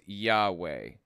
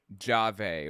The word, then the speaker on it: Yahweh: how he said it God's name was Yahweh not jave or Jehovah or whatever as Jehovah's Witnesses want